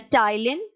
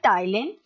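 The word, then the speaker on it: ptyalin: two digestive enzyme the tylene in this the p is silent okay so we call this a thailand and a pancreatic alpha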